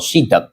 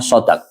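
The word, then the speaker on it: صداق: Lafaz shodq itu bisa dibaca dua shadnya bisa difathah shodq atau shadnya bisa dibaca kasrah sidq. Tapi yang lebih fasih itu bacaannya shodq.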